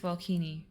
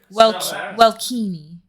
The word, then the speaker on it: Welkini: You'll want to speak with Welkini, but I'm sure we can accommodate.